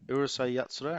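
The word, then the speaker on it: Urusei Yatsura: now you said the next one was urusai urusai yatsura is that how you say it yeah yeah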